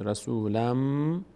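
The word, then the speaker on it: رسولًا منكم: تنوین داریم بعدش میم بعد از تنوین میم یکی از حروفی ادغام میشه به جای نون میم تلفظ میشه رسولم نون بعدی بعدش کاف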